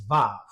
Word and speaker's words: Vav: Furthermore, it tells us that the pronunciation of the 3rd letter, which is transliterated as W, is actually pronounced as the V sound. So the 3rd Hebrew letter there in modern pronunciation is Vav, just like I said